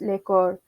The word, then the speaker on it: lekor: card but when spoken in taranganu accent we pronounce it as lekker in english the card means a circle or